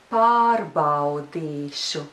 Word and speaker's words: Pārbaudīšu: But the syllable that stands before the syllable šu is di. Di. And in the syllable, there is the long vowel, e. So you have to be careful to pronounce it long.